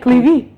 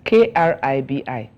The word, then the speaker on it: Kribi: Go to Kribi in Cameroon. Say it again. Klivi. You said? Let her say it. Go to Kribi. Kribi. Spell it. K-R-I-B-I.